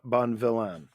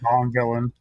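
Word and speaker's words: Bonvillain: was Inked by Tamara Bon villan so I hope I pronounce that sounds like Bon villain Bon yeah Bon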